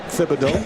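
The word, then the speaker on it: Thibodeau: So now people call him Tibido but he said the correct pronunciation is Tibido because it's the French accent.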